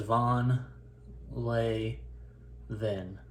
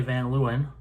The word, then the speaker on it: Van Leeuwen: do you pronounce it it says von lay then that's how it says to say it in dutch and uh it says if you're in america you can say van luen if you want that's